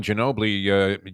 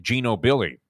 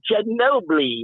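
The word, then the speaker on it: Ginóbili: Because he was calling Ginobili Gino Billy through the first 4 calls of the race,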